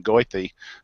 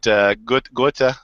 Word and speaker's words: Goethe: I would pronounce his name Goethe, but Goethe is probably the proper pronunciation.